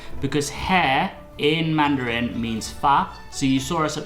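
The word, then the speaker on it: 发: So fa in hair has the same pronunciation and the same Chinese character as fa in Fa Cai, and that means to become wealthy.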